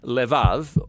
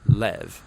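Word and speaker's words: לב: this prayer heart which in hebrew is sometimes pronounced lev or more often in a shorter form lev now different cultures throughout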